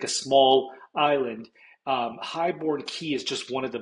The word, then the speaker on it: Highbourne Cay: Highbourne Cay, it's pronounced Key, but some people it looks like it's K, but it's the same thing as Key, like Key West, like a small island. Highbourne Cay is just one of